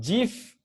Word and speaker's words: GIF: web, which is JPEG, GIF, not GIF. It's the pronunciation for graphics interchange format is actually GIF. Okay, so if your friend said GIF, you say no, it's not GIF, it's GIF.